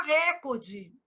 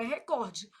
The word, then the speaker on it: recorde: Ô, Flávio, mas por que que todo mundo fala recorde? Não sei. Mentira. Sei. Influência do inglês, né, gente? Mas o certo é recorde.